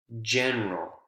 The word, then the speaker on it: general: Like, for example, in general, general, j, j, general. No longer is it the traditional G consonant sound, it's the what is normally used for the J consonant sound.